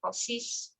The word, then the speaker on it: possess: Like you have something, but the correct pronunciation is possess. Okay. Oh, okay. Possess. Yes, it's just same like success, Mm-hmm.